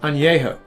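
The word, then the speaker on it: añejo: talk about in ano it's not pronounced Ana it's pronounced ano I know it's pronounced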